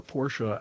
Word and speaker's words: Porsche: He he says Porsche because it comes out quicker. He's all about quick times. It's two syllables.